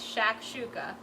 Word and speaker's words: shakshuka: that recipe is shakshuka so shakshouka that's the pronunciation if anyone was wondering it's shakshuka what it means is all mixed up so